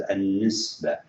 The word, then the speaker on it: النسبة: And in Arabic also we call it an-nisba. النسبة. Remember the ta marbuta, it would be if you stop here, you just pronounce it as without ta. It is النسبة.